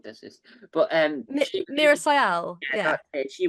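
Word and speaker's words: Meera Syal: Miriam Cyan. I'm mispronouncing the name, Oh, but Mira Sayal. mispronouncing the name like it's no one does this. But she was Mira Sayal.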